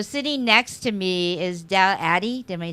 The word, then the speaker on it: Adey: So sitting next to me is Adey. Am I saying it right? Adey Jones. Yes, Adey Jones.